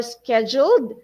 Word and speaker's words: scheduled: For scheduled, we will follow the American pronunciation, okay? I know some people would say, hey, that's scheduled, okay? That's British or Canadian way of saying the word, but we will follow the American way.